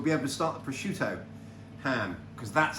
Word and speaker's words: prosciutto: So we'll be able to start the prosciutto ham, because that's how it's pronounced.